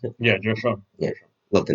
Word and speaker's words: Joe Schoen: So that's why GMs like Joe Schoen, that's how you pronounce it? yeah, Joe Sean.